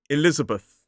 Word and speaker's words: Elizabeth: It is Elizabeth. 4 syllables, the stress is on the second syllable. So it's I-L-I-Z. And it ends in B-A. The voiceless TH, like at the end of the name Gareth.